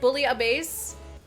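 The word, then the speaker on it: bouillabaisse: oh goodness bullet oh it's called bully base bully a base is house pronounced okay interesting so with that i definitely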